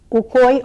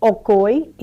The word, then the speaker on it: Ukoy: It's called Ukoy or Okoy, so no matter how you say it, it's still a very good dish.